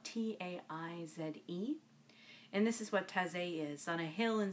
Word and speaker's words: Taizé: And it is by Brother Roger of Taizé.